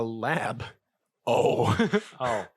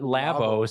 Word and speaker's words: Labo: Well, it's a lab. Oh. So Labo. I just sound like in the dumbest. In what universe did you think that it was pronounced? Because Labo sounds like get some tacos and.